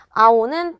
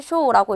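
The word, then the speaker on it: 青: 아오는 파랑이 되어서 훈독으로 읽으면 아오, 음독으로 읽으면 또 세이 또는 쇼라고 읽을 수 있구나.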